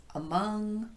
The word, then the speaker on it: among: And how about those words like around, across, among, along, about, and so forth? It's clearly the second syllable that's getting the emphasis here, but these words typically occur as part of a prepositional phrase.